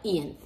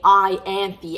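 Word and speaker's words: Ianthe: listening to it via audio um i always pronounced ian's name like ian's but happens to be in the audiobook they say i anti and i'm like how the hell do you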